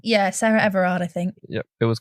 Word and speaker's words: Sarah Everard: it how do you say her name yeah sarah everard i think yeah it was confirmed that her